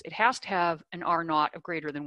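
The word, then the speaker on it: R₀: There's a measure called R naught. It's written R sub-zero, but it's usually pronounced naught, which is how many people one infected person spreads a disease to on average.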